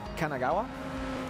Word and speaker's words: Kanagawa: is a student 22 years old from uh Kanagawa Kanagawa I don't know is Kanagawa right right is I correct I said it